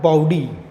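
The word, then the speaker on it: bawdy: The last one we have बाउडी, ठीक है। अब ये जो बाउडी है, वैसे तो ये राउडी के जैसे प्रोनाउंसिएट हो रही है, पर इसका जो मतलब होता है, बाउडी का मतलब होता है गंदा, ठीक है।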